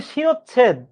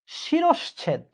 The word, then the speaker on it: শিরশ্ছেদ: আমরা উচ্চারণ করি শিরচ্ছেদ, ওই ভুল উচ্চারণ করি বিধায় আমরা পরীক্ষার হলে উত্তর করে আসবো এইটা, কিন্তু বাস্তবে উত্তর হবে কিন্তু এইটা, শিরশ্ছেদ। আবার বলছি, শব্দটা হচ্ছে শিরশ্ছেদ।